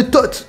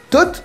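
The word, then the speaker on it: Thoth: En effet, terre de Tot. Tot me dit absolument rien. Mais si on l'écrit t o th h le h muet, et ben ça donne le nom d'un dieu égyptien.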